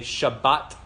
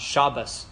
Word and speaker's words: Shabbat: a tee okay T in Israel they go with the mainly Sephardic pronunciation of T so if you go to Israel right now you would always hear them say shabbat shalom not Shabbos Shalom okay so but